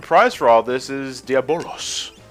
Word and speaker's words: Diabolos: for all this is diabolos diablos diablos well i say diabolo so that's kind of how it's spelled well the i think that it was supposed to be silent yeah yeah that order